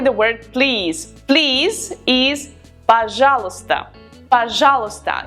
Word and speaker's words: пожалуйста: Please is пожалуйста. Пожалуйста. It's a difficult word and not all the letters are pronounced, so be careful with that. We write пожалуйста, but we pronounce пожалуйста.